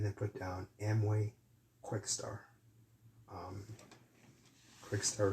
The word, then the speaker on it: Quixtar: Quickstar is spelled Quixtar.